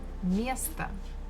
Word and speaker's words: место: Again, me, syllable me is stressed, so we must pronounce it as it is. But the last one, again, we have O, it is not stressed, so we say it as A. Место, место. Это мое место.